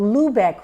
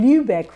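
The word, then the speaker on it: Lübeck: Um and and they were in a legal framework which was called the Lubebec rights. Okay, I think I'm pronouncing it wrong. Lubec rights.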